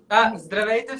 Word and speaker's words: Здравейте: Здравейте всички.